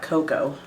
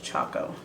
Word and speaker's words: Choco: So I got this in the shade number 6 Choco Vanilla, or because it's not cocoa, it's Choco, CHOCO, but I would call it cocoa, but it's spelled like chocolate but without the let.